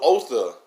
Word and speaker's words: Otha: So Otha, O-T-H-O, which is pronounced O-T-H-E, like the word the, T-H-E, Otha.